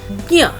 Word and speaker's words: ज्ञ: अगला हमारा जो संयुक्त व्यंजन है ज और ञ को मिलाने से इसका उच्चारण बना ज्ञ।